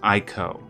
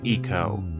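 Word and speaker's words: ICO: influence that game is IO and every yes I know it's pronounced Eco I was just trying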